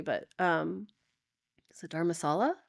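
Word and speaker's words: Dharamsala: I don't know how you pronounce it correctly, but is it Dharmasala? Dharmasala, yeah.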